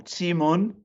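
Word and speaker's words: Keemun: This is the Kimun or Timun, if you use the Chinese pronunciation.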